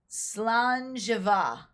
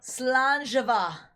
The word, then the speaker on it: Slàinte: Slàinte.